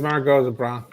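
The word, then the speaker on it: Margaux: You should have Chateau Margo. Chat Margo. I mean, here's here's the question, Sean. Have you ever gotten around to the big five? Here's a that is Margo.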